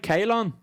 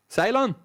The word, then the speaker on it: Ceylon: this geography yeah yeah am i saying that right kaylon cylon cylon that's what it is by calvin what did